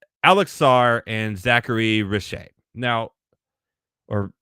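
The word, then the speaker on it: Risacher: So obviously this year is led by two overseas guys, and it's Alex Sarr and Zachary Richer. Now, or Richer, or I know the R is silent. He's French, okay?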